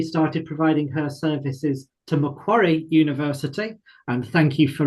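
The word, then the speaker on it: Macquarie: Hannah has recently started providing her services to Mcquary University and thank you for reminding me how I actually pronounce that. Quarry University in Sydney and the University of Sydney.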